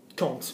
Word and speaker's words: compte: Compte. We pronounce it compte because there's an e on the end.